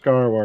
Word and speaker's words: Gaarawarr: over on my channel TwitchTV garar spelled like it sounds or you can click